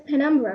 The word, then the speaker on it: penumbra: panra how do we pronounce it huh we pronounce it as penumbra right yeah we pronounce it as pandra okay